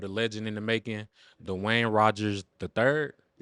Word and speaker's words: Duane: Dwayne. Like Dwayne Wade.